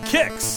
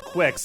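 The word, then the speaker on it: Qix: give that a watch number four kicks at least that's how they say it's pronounced honestly i don't know why it's not called quix i mean there is a q there but there's no u to finish it up so it's just really confusing to me the first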